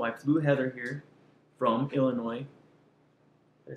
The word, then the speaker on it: Illinois: And we decided we wanted to actually meet, so I flew Heather here from Illinois.